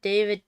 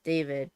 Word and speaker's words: David: Legend says I need to hear David Turchi pronounce his name because everyone says David, but it's David.